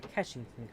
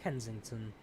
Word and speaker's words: Kensington: I'm not quite sure where Keshington comes from, because it's pronounced Kensington.